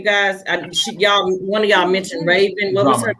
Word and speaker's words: Rhavynn: You guys, one of y'all mentioned Raven. What was her name? Oh, Raven Drummer. It's RHAVYNN. Oh, okay. Yeah, her name is spelled RHAVYN, 2 N's, drummer, like the drums.